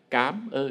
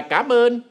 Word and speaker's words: cảm ơn: ơn cơ sở di nhiều người đọc là cám ơn vì do cách phát âm ở với mỗi vùng miền khác nhau Ẩm Thực ra phải đọc lại cảm ơn mới đúng còn từ cám ơn